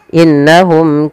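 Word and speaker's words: إِنَّهُمْ: Maka cara membacanya yaitu tahan dulu suara gunnahnya. Innahum, jangan langsung innahum kanu. Ini kesalahan yang sering terjadi, tidak menahan gunnahnya.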